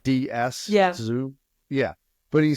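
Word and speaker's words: Tzu: pronounce the last name TZ U which it's pronounced like DS zo yeah but he said if you're depressed you're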